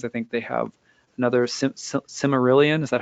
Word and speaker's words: Silmarillion: I think they have another Silmarillion. Is that how you say it, Becca? Silmarillion, yeah. Silmarillion.